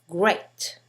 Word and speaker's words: great: like E, as in Jean, then you will mispronounce the following words. Great, hear, learn, instead.